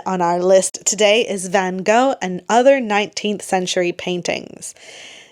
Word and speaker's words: Van Gogh: Canadians say Van Gogh. That's how I was educated. That's how I've always learned. The British say Van Gogh. But the actual Dutch is more like Van Gogh.